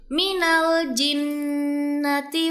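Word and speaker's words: مِنَ الْجِنَّةِ: Dan yang terakhir dalam ayat 6 surah Annas terdapat ayat yang berbunyi minal jinnati was. Terdapat dua huruf nun yang bertasydid sehingga dua-duanya harus dibaca gunah dua sampai 3 harakat.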